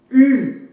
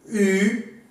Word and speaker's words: u: Si vous voulez bien prononcer le U, vous devez mettre en avant les lèvres.